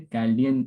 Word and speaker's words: Chaldean: कैल्डियन numerology, ठीक है, कैल्डियन pronounce करना है, कैल्डियन न्यूमरोलॉजी पढ़ाया जाएगा, एस्ट्रोलॉजी एंड न्यूमरोलॉजी रिलेशन पढ़ाया जाएगा, लोशो ग्रिड न्यूमरोलॉजी पढ़ाया जाएगा, हिब्रू कबाला न्यूमरोलॉजी।